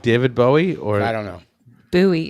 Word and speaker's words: Bowie: It's a knife. It's not a buoy knife. It's a Bowie knife.